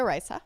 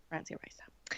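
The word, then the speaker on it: Francia Raísa: Risa. Yeah. Francia Risa.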